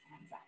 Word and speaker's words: Anza: named the answer but the proper way to say his name is hanza all right next question